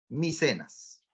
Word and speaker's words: Micenas: Micenas no, Micenas. Como ves en la imagen y como te estoy escribiendo acá, así se pronuncia. Micenas, ¿ya?